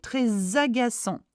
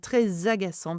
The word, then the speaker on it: très agaçant: Do not pronounce the T.